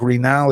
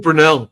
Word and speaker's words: Brunel: can correct me if I'm getting his last name wrong, but it's Jeanluke Real. Is that is that the right guy? Is it Real? Jeanluke Brunell.